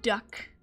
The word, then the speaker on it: duct: Duct tape or duct tape? Duct tape, I guess, if you want to pronounce the T. I say duck.